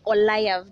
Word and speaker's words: Ollyve: Yes, and it's Ollyve, My name is not Ollyve, it's Ollyve. That is how it's pronounced.